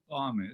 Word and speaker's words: Toameh: Did I pronounce it okay? Toameh, it's okay.